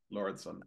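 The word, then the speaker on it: Lauridsen: I don't know how to pronounce that. Lauritsen.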